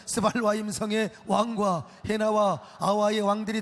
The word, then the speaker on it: 스발와임: 하맛 왕과 아르밧 왕과 스바일 스 아니 스발임 아이 좀 좀 그래 발음을 잘해야 돼요. 스발와임 성의 왕과 해나와 아와의 왕들이 다 어디 있느냐?